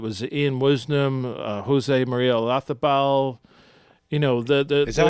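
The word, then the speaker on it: Olazábal: Ian Wisnam, Jose Maria Olazabal. Is that how you say it in Europe? Olazabal. It's not with a Z. Not Olazabal? No, it's Olazabal. Oh, interesting. That's how they pronounce it, a Spanish thing.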